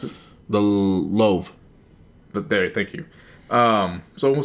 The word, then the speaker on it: Louvre: Or, how do you pronounce it? The Louvre.